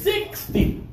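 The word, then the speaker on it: sixty: bigger number and with the bigger numbers we're going to stress the first syllable this is 60 good job you feel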